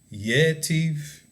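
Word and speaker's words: יתיב: This one, it accents the beginning of the word. Yetiv, right? You don't go into the next word. It's yetiv, it's at the beginning. You're accenting the first syllable, the first sound of that word.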